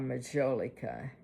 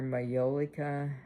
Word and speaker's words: Majolica: Italy, and it was called Majolica, or Majolica, however you say that. And you might pronounce the J in Italy.